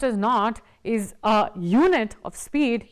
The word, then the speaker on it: knot: was the difference in the temperature the KN pronounced as not is a unit of speed used in the